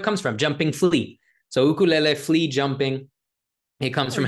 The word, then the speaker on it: ukulele: it the way it's supposed to be said ukulele jumping flea which came from how quick their fingers would move on the fretboard that's kind of the history yeah that's where it comes from jumping flea so ukulele flea jumping it comes from how fast the